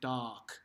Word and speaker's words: dark: that's a little weird we just say doc like d-a-h-k okay now let's look